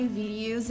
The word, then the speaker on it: video: the word video video It's pronounced video make that long o sound like No And Go video The Sound starts here and moves forward video and ends right here video video not video